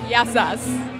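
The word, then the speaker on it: γεια σας: Yassas.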